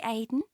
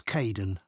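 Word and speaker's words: Kaeden: Hi Aiden. Uh it's Cayden.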